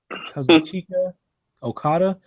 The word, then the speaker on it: Kazuchika Okada: I keep forgetting how to, or I keep forgetting how to pronounce his name. Kazu Kazuchika Okada.